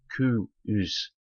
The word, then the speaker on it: Coos: This name, I understand, is sometimes pronounced Coo-oos, as though it had two syllables.